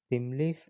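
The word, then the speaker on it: Thymeleaf: The artifact ID is spring hyphen boot hyphen starter, okay, hyphen themeleaf or timeleaf. Okay, you can pronounce it in both ways, themeleaf or timeleaf.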